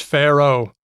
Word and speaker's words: Pharaoh: there you go Oh in English you don't pronounce the second a do you no it's just Pharaoh oh you know how